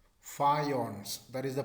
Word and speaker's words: faience: Faience. Faience. That is the pronunciation.